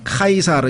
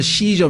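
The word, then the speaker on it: Caesar: 있다는 거죠 자 22절 우리가 카이사르 이 카이사르 라고 하는 말은 요 영어 발음으로는 씨저 및 아시죠 그러니깐 로마의 황제를 시절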